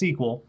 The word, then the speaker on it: SQL: lot of the internet runs on uh it's pronounced SQL even though it's not spelled that way um a lot of the internet runs on SQL you hear a lot about SQL databases and